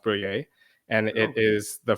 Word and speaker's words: briller: And I don't know if you're familiar with French or if you've heard of the French word, but briller is actually pronounced brouiller.